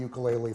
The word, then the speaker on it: ukulele: first really popularized the I'll use the correct Hawaiian pronunciation, ukulele.